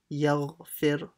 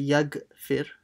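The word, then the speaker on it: يغفر: Be fir, yaghfir. And don't say, make sure you pronounce the ghain properly. Don't say yagfir. It's not a g, it's gha, yaghfir.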